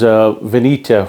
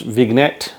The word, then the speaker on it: vignette: One of the things that I said to you earlier on in the videos was Veneta, which is the road tax for the European countries. It is actually pronounced Vignette, so just to keep that in mind.